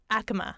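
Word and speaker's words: Acoma: You were saying, so remind me if the pronunciation is correct, is Akami? Akame tribe? Akama. Akama.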